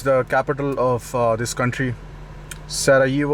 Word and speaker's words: Sarajevo: So this is my second day in Bosnia, and I'm heading towards the capital of this country, Sarajevo, or Sarajevo, as you may pronounce it.